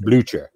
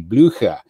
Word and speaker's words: Blücher: of a German class, German is broken down into High German and Low German. And Low German is the guttural, rough, that would be pronounced Blücher. Whereas in High German, it's a little bit more rolling of the vocabulary, and it would be Blücher.